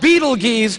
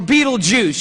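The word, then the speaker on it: Betelgeuse: heard about this star it's called beetle geese or beetlejuice you can pick your pronunciation i'm obviously going with beetlejuice and beetlejuice is incredible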